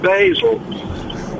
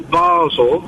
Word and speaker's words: Basel: Now, I do travel a bit around Europe and I've never come across Basil. There's there's Bal or Basel. Yes. But now we've in the BBC have invented Basil.